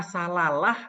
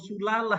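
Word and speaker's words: سلالة: Apakah salalah atau silalah atau sulalah ya? Gitu. Nah. Salalati. Itu dia tuh. Ini ada ini. Min salalati. Quran ada. Kata ini dalam Quran ada. Nah, bacanya itu sulalah, ya, sulalah.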